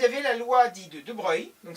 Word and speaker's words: de Broglie: la loi dit de de Breuil donc ça s'écrit de Brogli mais ça se prononce de breuilil qui dit que la